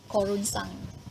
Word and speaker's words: korunsang: Korunsang is in Malay also called keronsang in Malay. Okay. But in Dusun it's a little bit different pronunciation, korunsang.